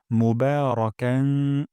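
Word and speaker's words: مُبَارَكًا: তাইবান তাইয়েবান তাইয়েবান তারপর মোবারকান বা এখানে এক আলিফ টেনে পড়বো মুবারাকান এবং এখানে একটু না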